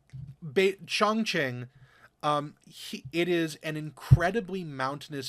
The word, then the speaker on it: Chongqing: I'm trying to remember how he pronounced it. It's Chongqing.